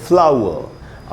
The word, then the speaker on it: flower: ये जो एंड में आर है, ब्रिटिश इंग्लिश में एक रूल है प्रोनंसिएशन का कि अगर किसी वर्ड के एंड में आर हो तो उसका उच्चारण नहीं होता, वो हमेशा साइलेंट होता है। लेकिन अमेरिकन इंग्लिश में ऐसा कोई रूल नहीं है। तो ब्रिटिश इंग्लिश के हिसाब से इस आर का उच्चारण नहीं किया जा रहा है और इसको हम पढ़ेंगे फ्लावर। अमेरिकन इंग्लिश में जब आर